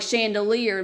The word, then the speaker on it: chandelier: a ch sound, but there are words like chandelier, while it makes a sh sound, you think it's an S, it should be spelled with an SH, but no, it's not.